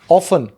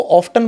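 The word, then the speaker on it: often: तो आपने सुना होगा अक्सर, ऑफन, लेकिन आजकल उसको ऑफ्टन बोलने लग गए हैं लोग। वो टी साइलेंट हट गया, वो टी साइलेंट अब हट चुका है।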